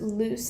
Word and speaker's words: loose: when we have two it's pronounced loose with kind of a soft s just so you guys